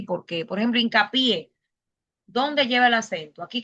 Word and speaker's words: hincapié: Ahora, perdón que me falta explicar acá por qué hincapié lleva acento en la última sílaba.